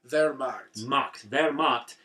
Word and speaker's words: Wehrmacht: Wehrmacht. And but it's spelled like where, like werewolves.